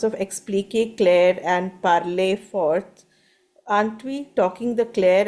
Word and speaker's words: fort: Dans la cour, les enfants parlaient fort et riaient beaucoup. The deuxième one. Four. Deuxième. Just make sure we're not pronouncing the fort, the t very emphatically. We don't need it. So fort.